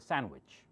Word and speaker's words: sandwich: If I say grandfather, you have to listen very, If I say sandwich, I do not say sandwich. So try to suppress the D. It's a sandwich.